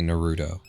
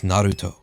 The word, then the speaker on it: Naruto: hake naruda I hate I hate people who say Naruto it's Naruto Uzumaki Naruto aim orw darot